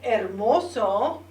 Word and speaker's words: hermoso: And another word that you can use for something that's pretty or beautiful is the word hermoso. Hermoso. You don't pronounce the H in Spanish. It's silent.